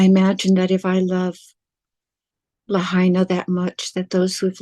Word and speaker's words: Lahaina: I've always pronounced it Lahaina, right? Yeah, Lahaina.